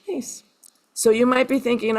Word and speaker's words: Myss: It's spelled M-Y-S-S, although it's pronounced Mace.